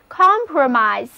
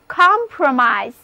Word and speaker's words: compromise: 的 con com 前缀，单词 compromise 最后的 i 字母发音变作 i 的本字母音， read after me 就是 compromise。